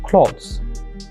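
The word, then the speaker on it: clothes: দ্বিতীয়টার ক্ষেত্রে লো উচ্চারণ করবেন, ক্লথস, ক্লথ, ক্লথস।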